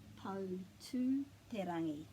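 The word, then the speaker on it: Poutūterangi: If there's an I or a U after the T, you pronounce it T. But if there isn't an I or a U, it's like te.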